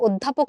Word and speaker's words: অধ্যাপক: এই কারণে আমরা এই অধ্বনির উচ্চারণটাকে বলবো হচ্ছে অধ্বনির সংবৃত উচ্চারণ। তাহলে এই অধ্বনির উচ্চারণটা যদি অধ্বনির মতোই থাকতো, ও না হইতো, অধ্যাপক না হয় যদি অধ্যাপক হইতো, তাহলে আমরা এটাকে বলতাম বিবৃত উচ্চারণ।